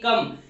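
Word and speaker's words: come: सो पहला पॉइंट जो हमारा है वो है ओ is equal to ए. It means ओ को हम ए कब प्रोनाउंस करेंगे. इट मींस ओ का प्रोनाउंसिएशन है कब होगा. तो जो कुछ एग्जांपल्स है आप उससे समझेंगे. पहला जो एग्जांपल है वो है सी ओ एम ई कम.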